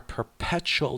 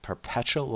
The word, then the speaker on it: perpetual: our perpetual distraction Our perpetual distraction. Our distraction, which is never ending. Perpetual. Perpetual with stress on the second syllable.